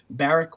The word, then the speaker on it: Barrick: His name Barrick Woods, spelled like Barack, but Barrick Woods.